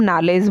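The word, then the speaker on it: knowledge: ऐसे ही अगर साइकोलॉजी की बात करें तो साइकोलॉजी में P साइलेंट है और नॉलेज में KWD 3 साइलेंट ध्वनियाँ हैं और इसे हम नॉलेज बोल देते हैं।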